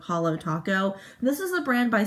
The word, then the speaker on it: Holo Taco: to talk about is holo taco i feel like that's how you pronounce it um it's like holographic so it's holo taco this is a brand